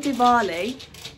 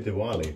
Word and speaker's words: Diwali: fantastic Halloween um and Dali did I say that right deali deali say Diwali but I if that's just